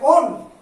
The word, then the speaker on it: one: তাহলে এক্ষেত্রে অপ্রধান প্রত্যয় হিসাবে ব্যবহৃত হবে ওন। ও দন্তন্য, দ্যাট ইজ ইংরেজিতে ONE, উচ্চারণটা কিন্তু 1 হবে না।